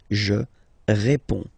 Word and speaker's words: réponds: Okay, so you can see that D and S here are not pronounced. Je réponds.